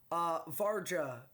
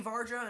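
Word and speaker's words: Vajra: I see Varja, and I'm like, good. I don't know if that's how you pronounce it. I don't really care. Varia is how I heard it pronounced.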